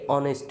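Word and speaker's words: honest: রাখছি Rajib is এ অনেস্ট ম্যান এখানে এইচ আছে এর শুরুতে কি আছে এইচ আছে কিন্তু এখানে উচ্চারণটা কেমন হয়েছে অনেস্ট ও এর মত উচ্চারণ হয়েছে এইচ এর উচ্চারণ কিন্তু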